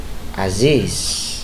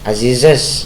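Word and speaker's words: Aziz's: tetap diberi koma estat tapi bacanya tetap Aziz Jangan dibaca azize jangan ya tidak ada tetap diberi koma diberi es tapi pengucapannya tetap Aziz begitu Hai contoh Halo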